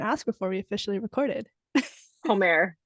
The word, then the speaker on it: Homère: Homère. Homère.